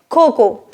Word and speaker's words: cocoa: The right way to pronounce it is cocoa. Cocoa powder. Drop letter A.